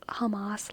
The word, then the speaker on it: Hamas: That's a, what was that guy's name the surgeon, who was the surgeon running for president who pronounced Hamas like hummus?